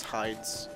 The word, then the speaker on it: Heide: I've heard people pronounce it Heide. I'm pretty sure it's Heide's.